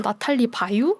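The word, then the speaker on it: Nathalie Baye: 그래서 발음도 영어로 하면은 뭐 나탈리 베이라고 나오는데 또 검색하다 보면 불어식으로는 나탈리 바유 막 이렇게 발음하기도 하고 네.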